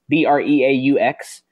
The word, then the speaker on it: Breaux: He has to pass a physical to be signed, but Delvin Breaux, I believe his name is, Breaux. I'm just going to go with that Cajun pronunciation there.